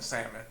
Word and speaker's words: salmon: smoke some oh yeah I hate when say the L and salmon it's pronounced the L bro some smoke salmon